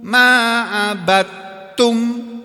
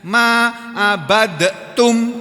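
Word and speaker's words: عبدتم: Wala ana abidum ma'abattum dal ketemu ta idgham. Kalau kolahnya kalah masuk ke dalam huruf ta. Tapi ada sebagian qori membacanya ma'abadtum, ada juga yang baca begitu. Tapi itu tidak populer, tidak masyhur.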